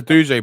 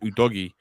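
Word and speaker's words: Udogie: abuja yeah like you know it's not a douje brand you know it's actually pronounced udogi yeah did you watch it yeah i watched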